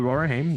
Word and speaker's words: Rohirrim: see a trailer for War of the Rohirrim.